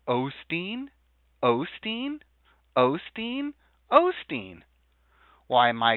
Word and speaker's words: Osteen: to try to find how it's actually spelled and pronounced j o e l o L o wait a second if I go oh well it goes Olsson but hold on Joel o Osteen Osteen Osteen Osteen why